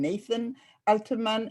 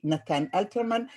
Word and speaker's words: Natan Alterman: I know that many of you would prefer to call him Nathan Alterman, and that is fine by me, but I prefer to pronounce it the Hebrew Israeli way, Natan Alterman, just like I prefer to be called Rachel and not Rachel.